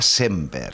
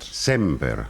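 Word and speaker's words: Sémper: Es eh Borja Semper con acento en la Elana o Borja Semper aguda. Me alegro que me hagas esa pregunta siempre que se decí esta frase es Borja Semper. Semper. De todas formas me hallo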